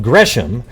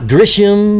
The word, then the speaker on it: Gresham: And that is from the guy lives in my home state in a town called Gresham. Not Grisham or Grasham or any crap like that. And Oregon's pronounced Oregon.